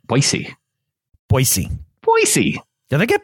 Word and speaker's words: Boise: Boise State you know you said it wrong the first time and that makes people from Boise mad did I say Boise yeah you can't go Boise oh you can't just as II ok boise boise boise boise then